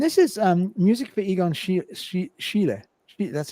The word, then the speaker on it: Schiele: And this is music for Egon Schiele. That's how you pronounce it, Schiele, the famous artist.